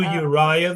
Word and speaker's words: Uriah: And King of Ahaz sent unto Ur, Three Uriah, syllables.